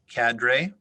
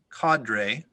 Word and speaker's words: cadre: in its first year there are several alternate pronunciations cadre cadre cadre cotter cater cadre could